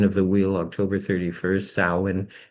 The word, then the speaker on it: Samhain: Samhain is the proper pronunciation. Some people say Samhain, but it's not, it's Samhain.